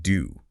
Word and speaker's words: Dou: Well, Ba Shazang noted the location Yuku Valley, which means cow's mouth valley, and the king's name doo, which sounds like the word for bean.